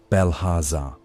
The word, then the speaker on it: Belharza: Among those who nurtured such imagination was a youth of sturdy shoulders named Belharza, pronounced Belhaza.